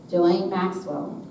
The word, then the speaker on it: Ghislaine Maxwell: Ghislaine Maxwell.